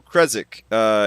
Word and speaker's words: Krezek: So Krezek is how he pronounces it. So that's how I'm going to pronounce it.